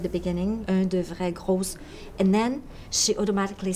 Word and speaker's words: gros: make that mistake because in English you pronounce the S's at the end of words, but in French you don't pronounce them unless you have a vowel.